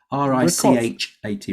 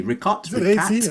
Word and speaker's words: Richat: R-I-C-H-A-T. Richat. I need to go there. I had it down as R-I-C-H-A-T. So it's spelled Richat almost, but I don't know if that's actually how it's pronounced.